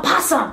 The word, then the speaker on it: possum: That's how you spell possum. No, it's not, Penelope. Is your brain okay? It starts with an O, Dad. It's pronounced possum, not a possum. It's not a French possum, Penelope.